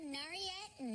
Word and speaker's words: Nayarit: Speaking of hot climates, the Four Seasons Resort in Punta Mita in Riviera Nayarit, Mexico. Yeah. Rolled right off your tongue. I didn't say it right? No, you I did said it exactly right.